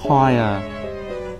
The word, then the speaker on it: choir: Em chắc chắn 100% từ này đọc là cho. Nhìn thế này cũng đọc là cho. Không thể nào mà sai được. Nó đọc là choir.